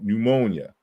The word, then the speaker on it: pneumonia: probably why it went silent because you you have to do too much work to say p you know pneumonia pneumonia so it became silent but we still writed